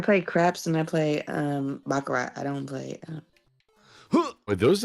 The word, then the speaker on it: baccarat: I play craps and I play baccarat.